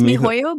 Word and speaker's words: miHoYo: Genshin Impact is an action role-playing game developed and published by MiHoYo. Is that how you pronounce it? Yes, it's MiHoYo, but it actually is now HoYoverse.